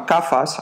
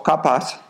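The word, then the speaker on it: kapha: persona que es y se llaman cafas o capas Depende como lo queráis pronunciar esa gente es más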